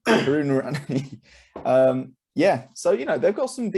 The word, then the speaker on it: Karunaratne: Karanaki. Is that how you say it? Karunaratne. Karuna. Thank you. Karunaratne.